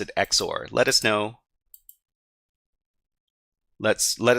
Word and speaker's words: XOR: so I guess um both zor and exor can they sound they both sound pretty cool but uh I I do understand that exor is the official pronunciation for this but I like saying zor because uh zor is one syllable and exor is to but I I wonder